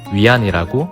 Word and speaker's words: 위안: 중국의 화폐 단위는 기호로 다음과 같이 쓰고 위안이라고 읽습니다.